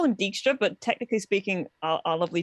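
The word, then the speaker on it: Dijkstra: nova has pointed out his name is dykstra um because it's dutch name but everybody everybody says it wrong they say it wrong with the games they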